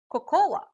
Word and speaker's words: cocoa: hear people say or cocoa but it should be pronounced as coco for example the recipe